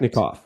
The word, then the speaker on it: Biletnikoff: I'm going to try to pronounce it correctly. The Fred Biletnikoff Award. Is that correct? Biletnikoff.